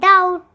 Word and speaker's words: doubt: thumb dumb crumb and sometimes it is not pronounced when it comes before T like that and doubt thank you like subscribe